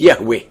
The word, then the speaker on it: Yahweh: himself as I am which in him Hebrew is pronounced Yahweh and the almighty continues